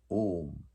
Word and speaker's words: Om: Om consists of three syllables, A, U and Ma.